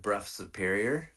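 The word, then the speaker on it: Brough Superior: want to say uh the old Bruff Superior um if you're familiar with that bike that's the Lawrence of Arabia bike um the uh um uh yeah so if you look at Bruff Superior it's spelled bro b r o u g h Superior uh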